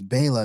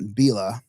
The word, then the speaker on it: Biela: Now it sounds like it's Bala, not Bila.